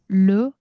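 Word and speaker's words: rhume: 지금 감기 걸려버렸는데 아음 이게 발음이 조금 어려운데요. 루 rh에서 h는 무음이니까 이게 감기입니다.음 음.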